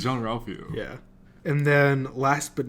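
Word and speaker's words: Jean-Ralphio: Whenever I hear a John Ralphio name, I need to say it like the way that Tom says, like, Jean Ralphio. I don't know, just the way, I don't know, because it's Jean Ralphio.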